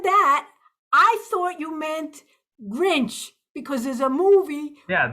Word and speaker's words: Grinch: Yeah, for example, like I had a hard time pronouncing Grinch, and I was with my aunt, and I kept saying, "Hey, look, Grints, Grints, Grints," and I kept getting pissed off.